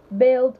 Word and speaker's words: build: and cumbersome so let's build build someone said something about the bu ILD weren't another person said those are you there the letter U so why is it making that sound okay I'd like to